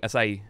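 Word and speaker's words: açaí: lot of acai I I guess it would be more like acai acai like three syllables right it's not a k a k e is working out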